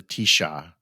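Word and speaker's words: Taoiseach: called the prime minister is called the Tisha Tisha Tisha is spelled um you know not like you you'd expect it to not like Tisha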